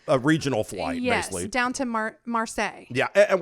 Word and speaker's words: Marseille: to marseille yeah and we're saying marseille because thought it was marseille it's not in france because we said how do you say they go oh it's marseille right yeah yeah so we're actually pronouncing it as they would and how they taught us if we botched some